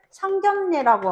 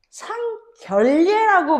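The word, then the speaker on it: 상견례: 대표적으로 서로 얼굴을 보고 인사를 드리는 예절을 상견예라고 하지. 그치? 상견예라고 해. 상견예요. 여러분 이거를 여러분들 상결례라고 발음하는 건 진짜 결례겠지 그지? 그렇게 발음해서는 안 돼.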